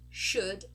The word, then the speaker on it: should: it's an uh so could should would notice we are not pronouncing the letter O and we are not pronouncing the letter L okay next one we